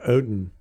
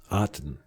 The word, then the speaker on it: Otton: So this Cade Otton, I guess that's how you say it. C-A-D-E. Cade. Like cotton with no C. Cade Otton.